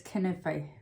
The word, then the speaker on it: Kanafe: So I don't think it begins with K, and I say it's kanafe, but I'm pretty sure that's an Anglicised pronunciation of an Arabic word.